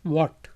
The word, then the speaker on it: what: एच जो है यहाँ पे साइलेंट है, चुप है, इसलिए इसको पढ़ेंगे व्हाट।